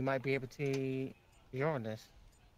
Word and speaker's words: Uranus: be able to see Uranus. Don't you mean Uranus? That's the incorrect way to say it. What do you mean? It's always been Uranus.